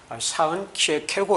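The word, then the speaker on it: Søren Kierkegaard: 그러나 9 후에 에 덴마크 인 덴마크 사람인 친구에게 이것을 정확하게 발음을 해 달라고 요청을 한 적이 있습니다 그랬더니 친구가 사은 취해 캐고 라고 어 읽어 주었습니다 이것을 녹음을 해서 번갈아 아 몇 번씩 들었습니다 쌍 취해 캐고 이렇게 표현하는 것이 가장 원은 에 가깝다고 할 수 있겠습니다 아 저는 몇 년전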